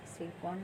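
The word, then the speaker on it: Tsirkon: यहाँ T silent है, सिरकॉन इसका नाम है।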